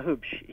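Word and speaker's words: Huebsch: Is it Hoopsch? H-U-E-B-S-C-H? Yeah, Hoopsch. Okay.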